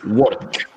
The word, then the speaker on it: work: Work. Work. Tiene que sonar la K.